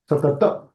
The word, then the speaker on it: सतत: For full ta, you need to pronounce it with the a. Satata.